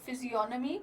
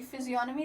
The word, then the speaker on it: physiognomy: He applied the ancient technique of physiognomy to criminology. Physiognomy, the G is silent here.